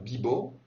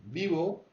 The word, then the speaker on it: vivo: dit voy, en espagnol, le V se prononce quasiment comme un B. Vivo, on entend bien que c'est pas bibo, c'est pas bibo, c'est vivo.